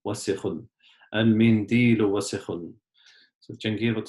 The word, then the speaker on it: وسخ: A lot of people pronounce it as wasikhun, but it's just wasikhun, wasikhun.